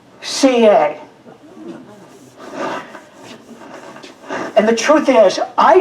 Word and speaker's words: Suye: there and you will see it looks like sue yay she was born in Japan looks like suey but it's pronounced CA and the truth is I don't know if